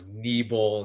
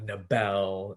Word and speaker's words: Niebel: It's like, I'm Niebel, not Nabel.